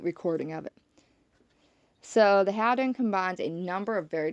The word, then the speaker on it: Houdan: Okay, so this is called a mottled Howden, or some people might say Houdan. I actually used to say Houdan.